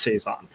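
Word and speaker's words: 3×3 Eyes: the obscure anime olympics here this is from saison eyes um which is generally written as three three x three eyes uh that's that's the title but apparently it's it's pronounced saison um this is a old early this is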